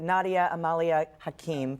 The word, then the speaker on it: Nadia Hakim: We have Nadia Hakim. That's exactly it. Thank you for the pronunciation.